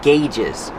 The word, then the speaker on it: gauge: On the instrument panel, you have a lot of different gauges. Pronunciation gauge. Use the hard gggg and the long a like say and pay.